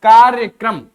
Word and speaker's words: कार्यक्रम: है क्रम ठीक है का का पूर्ण उच्चारण नहीं करना है आधा करना है तो क्या हो जाएगा कार्यक्रम ठीक है ये जो है